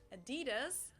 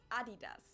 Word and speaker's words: Adidas: what they were referring to because they usually pronounce it Adidas and in Germany we say Adidas Adidas Adidas super Adidas it's one of the